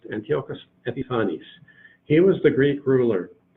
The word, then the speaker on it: Antiochus Epiphanes: period Antiochus Antiochus Epiphanes for Antiochus Epiphanes that's pronounced Antiochus Epiphanes he was the Greek ruler one of well